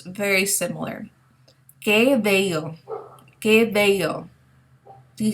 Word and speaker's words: que: Now, the Q-U-E in Spanish is pronounced as que, okay? It has a hard C sound. We don't pronounce the U here. It's really just serving as a placeholder.